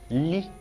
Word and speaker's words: L: Li. Alright, good. The next one is, you can see that the Li is just like letter L in English, but this pronunciation is different, isn't it?